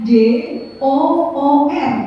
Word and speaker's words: door: yang o-nya dua misalnya misalnya kayak l o o k bacanya look ya betul kalau c o o k bnya tu tapi kalau d o o r bnya door jadi beda ya itu bilangnya itu bahasa Inggris itu tidak konsisten jadi P itu inkonsistensi